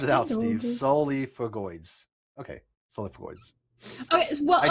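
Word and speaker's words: Solifugae: But camel spiders, sulfogoids, solifogoids, or I can't pronounce it. Solifugoids.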